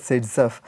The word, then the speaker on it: Zaitsev: So it has to be pronounced as Zaitsev.